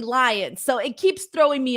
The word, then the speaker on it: Lyons: It's spelled Lyons, but it's actually Lions.